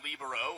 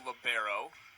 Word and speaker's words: libero: That's the libero or libero. Interchangeable pronunciations. International, they like to use libero.